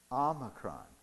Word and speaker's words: Omicron: And the one that looks like a W, we pronounce O. O. So what should this variation be called? Omicron.